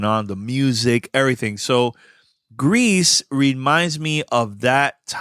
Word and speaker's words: Gris: going to talk about this game called g u Greece in Spanish it's called Greece uh the developers of